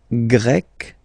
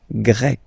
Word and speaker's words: Grec: So you get the country, la Grèce, and then you get Grec, masculine form, Grec, feminine form. You write them differently, but then, if you listen carefully, Grec, you pronounce them the same way.